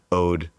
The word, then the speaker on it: Oade: get into it, but Ode is the way that it's pronounced and it does mean the word Ode O D. Um, but it's a blend of the word Ode and the word oak.